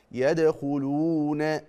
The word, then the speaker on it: يدخلون: يدخلون شوف بقراها ازاي يدخلون شوف المد الحركتين دول يدخلون بمد الواو ليه يا مولانا لان الواو ساكنه وقبلها مضموم وليس بعد الواو همز او سكون يبقى لما تقراها يدخلون في دين الله لو قلتها كده ورايت الناس يدخلون في دين الله لا يبقى انت كده ما عملتش المد الطبيعي عملتوش حركتين تمام طيب طب الصحيح ايه